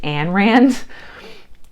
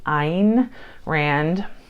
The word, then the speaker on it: Ayn Rand: and what's funny is it's spelled A-Y-N, and for years I thought it was Anne Rand. And I realized at some point, and I even re-looked it up before I am making this video, and it is pronounced Ayn Rand.